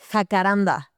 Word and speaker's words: Jacaranda: Jacaranda.